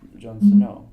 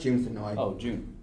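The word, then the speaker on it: Jun Senoue: but so did Jon Snow. So It's Yeah. pronounced June Sonoy. June Snow.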